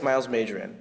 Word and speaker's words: Myles Majan: Hello, my name is Myles Majan. Yep, that's how it's pronounced, guys.